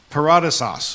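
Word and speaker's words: παράδεισος: The Strong's word, um this is from the Strong's Concordance, the word paradise is paradeisos is what's how it's pronounced.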